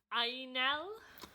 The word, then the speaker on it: angel: It's spelt the same, but it said like Ainel.